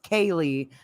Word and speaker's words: Kiely: There's people in the chat totally tripping because apparently the girl with the C, her name is pronounced Kaylee.